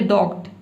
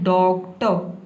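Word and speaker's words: doctor: आप गलत प्रोनाउंस ना करें, आप ये ना बोले डॉक्ट, डॉक्ट नहीं बोलना है, आपको बोलना है डॉक्टर, इस तरह से।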